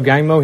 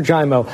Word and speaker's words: Giaimo: did not joining us today is dr joe gaimo he's a pulmonologist at a staff over at